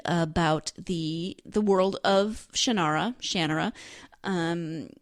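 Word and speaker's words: Shannara: series shanara shanara again I don't know how he pronounces it I grew up pronouncing it in my head shanara the Audi book narrators all say shanur so you know I mean who am I to argue that's the thing with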